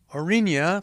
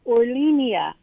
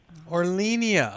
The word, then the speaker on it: Orlinia: your name hi uh it's orlinia orlinia okay I thought that L wasn't I arlenia you're not the first